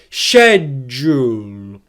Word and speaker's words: schedule: Schedule, schedule, schedule. Can you hear there how the ʃedʒ is louder, stronger, and produced with more force than the uhl? That's because it is a stressed syllable in English.